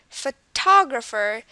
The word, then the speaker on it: photographer: and from what we can tell the stress is on the TP part photographer it's like the highest emphasized photographer um the rest of them um are not as highly stressed as the T syllable photographer and the final